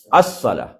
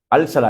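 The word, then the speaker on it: الصلاة: என்றதுல அலிஃப் லாம் சேர்ந்தா அஸ்ஸலா எப்படி சொல்லுவோம் அஸ்ஸலா அல்சலா இல்ல என்ன சலா அஸ்ஸலா தெரிஞ்சுச்சா இப்ப அதே மாதிரி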